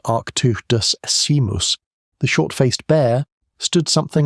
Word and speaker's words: Arctodus simus: Arctodus simus, pronounced Arctodus simus, the short-faced bear, stood something like 11 or